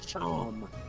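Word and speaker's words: Seam: Steam. Pronounce Shom.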